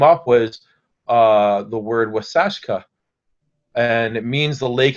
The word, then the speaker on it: Waasaashkaa: the what came up was uh the word wasashka and it means the lake has white caps and beautiful and when this time of year happens then i look at it on the every day it's wasashka what is an older it's an old word